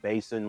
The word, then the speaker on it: BASN: and inner monitors and that is pronounced basin like water basin or wash basin i already unboxed these